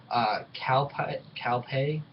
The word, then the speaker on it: Kalpa: Next, number 2 is I believe it's pronounced Kalpa. K-A-L-P-A.